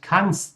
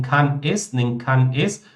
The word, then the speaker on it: kann's: Então, não é schreib es, nem kann es, mas sim schreib's, kann's.